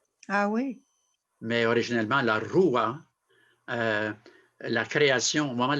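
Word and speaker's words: ruah: Mais originellement, la roua, la création, au moment de la création, hein, c'est Dieu par rapport à la création de l'être humain.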